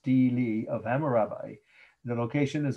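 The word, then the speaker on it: stele: wasn't jewish okay uh so again it's the steely or stila it's how the pronounced but it's most often pronounced stili of hammurabi the location is iraq yet again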